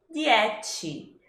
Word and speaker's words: dieci: E por que a gente encontra essa dificuldade? Primeiro, porque a gente tem o som di em italiano, que para muita gente aqui do português, aqui no Brasil, a gente vai falar di. Seguido de um CI, uma sílaba CI, que em italiano tem o som de ti. Ti. Então, pra gente acabar falando dieci, ou jesse, não sei, é um pulo.